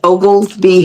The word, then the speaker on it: Oglesby: It's Ogles B. OGs B. Ogle be like Ogle Ve but it's Ogleby.